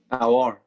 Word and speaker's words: Aouar: how's it pronounced, Ahmed? Aouar.